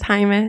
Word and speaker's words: Jaime: I think you mispronounced my name before. It was Jaime, so yeah.